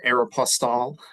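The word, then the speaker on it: Aéropostale: to work with that was then working at Aeroplas, uh, which is how we're supposed to pronounce it.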